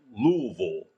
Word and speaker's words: Louisville: You have to say it like Louisville, or she gets Yeah.